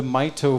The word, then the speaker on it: Mito: about the Cure Mito I've been saying it wrong earlier but it's not Meo it's the Mito Foundation here uh Jacob and